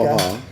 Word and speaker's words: Omaha: Omaha.